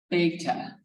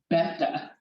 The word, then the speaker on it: beta: that is this word right there most Americans pronounce it beta that's Americans it's pronounced beta is the real way and I was in